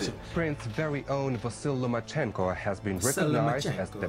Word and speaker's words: Vasyl Lomachenko: Vasyl Lomachenko?